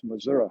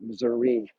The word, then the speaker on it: Missouri: Got to say it properly. It's Missouri, not Missouri, right?